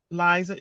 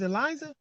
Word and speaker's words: Liza: um meet with um liza is eliza or lisa uh it doesn't matter i like all the pronunciations of my name lisa lisa since i